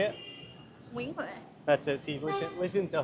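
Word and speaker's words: Nguyễn Huệ: Nguyen Huệ. That's it, see, listen to her. What's the worst pronunciation you've heard somebody use in Vietnam, apart from me?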